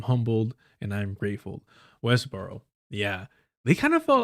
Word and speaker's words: Westboro: Burstboro? How do you say that? Somebody help me out. I got an accent, y'all. Westboro.